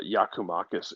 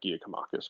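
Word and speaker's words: Giakoumakis: mute uh so uh yakumakis is the pronunciation I've heard most frequently not Gia or uh giacomachus but yeah we're gonna go with yakamakis and uh morning to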